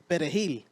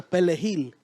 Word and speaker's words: perejil: So they used to tell them to say perejil. So perejil, right? Yeah. But then, Haitians couldn't pronounce, I think, the R. So they go perejil.